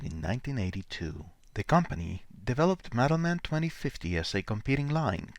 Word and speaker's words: Madelman: Join us as we reveal the history of Madelman 2050, discuss its lore, and review these fun action figures and some of their vehicles from the Broca Beach Club's vault. Let's start with pronunciation. It's Madelman, not Madelman.